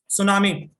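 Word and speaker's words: tsunami: सुनामी, सुनामी जापानी भाषा का शब्द है, से टी सुनामी लिखा जाता है, टी इसमें साइलेंट रहता है।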